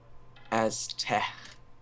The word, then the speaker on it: Aztec: It's pronounced Aztec. Aztec. The C makes sort of like a ha sound.